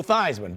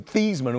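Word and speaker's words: Theismann: I think it was Thesman when he was playing, I believe. So, I keep I keep saying Thyman, so I don't Yeah. Well, he changed it to pronunciation to rhyme with Heisman.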